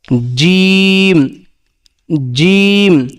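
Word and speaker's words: ج: উচ্চারণ কোথা থেকে হবে জিমটা উচ্চারণ হবে জিহ্বার মধ্যখান জিহ্বার মধ্যখান তার বরাবর উপরে তালের সঙ্গে লাগাই জিম জিম একটু চেপে ধরে বলতে হবে যে জিম জিম তারপরে হা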